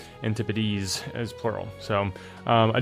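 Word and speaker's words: antipodes: It is not pronounced an antipode.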